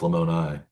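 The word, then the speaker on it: Lamoni: Oh, that's why it's pronounced Lemonai instead of Lemon.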